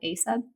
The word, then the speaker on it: AESUB: There's actually a scanning spray out there called ASUB. It's spelled AESUB.